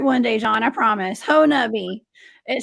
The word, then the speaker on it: Honobia: you sent me a the henobi hat right pronounce me i'm going to get it right one day john i promise ho nubby it sounds like um it sounds like something